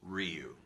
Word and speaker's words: Ryu: now when i recorded Capcom said it's Ryu it's not Hadouken it's